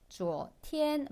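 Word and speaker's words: 昨天: 주어티엔 발음 어려운 거 없고요. 앞에 주어 2성이죠. 뒤에 tn 1성이에요. 그렇죠?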